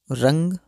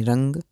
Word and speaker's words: रंग: तो आपको किसी भी शब्द के साथ अगर आपको यह जो रंग के ऊपर जो बिंदु लगा है इसका उच्चारण आपको हमेशा म की तरह करना होता है।